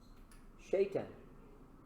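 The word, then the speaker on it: Shei'tan: Shaitan. Very similar to Satan, eh?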